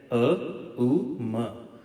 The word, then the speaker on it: ओम: उच्चारण करें तो ध्यान यह तीन अक्षरी मंत्र है अ उ म ओम नहीं है यह कैसे बोलेंगे मैं